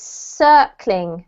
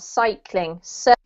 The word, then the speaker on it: circling: sounds is this one so it's circling not cycling circling yeah that's better just because it sounded like you were saying cycling which could be possible